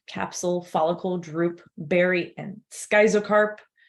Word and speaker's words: schizocarp: Fruit types: achene, nut, capsule, follicle, drupe, berry, and schizocarp. I hear that pronounced schizocarp or schizocarp sometimes too. I've always said schizocarp though.